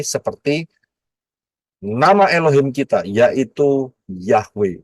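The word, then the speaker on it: Yahweh: nama Elohim kita yaitu yahwe bacanya dari kanan ya y he W he y h w ha dari kanan ke kiri yahwe Nah kalau kita lihat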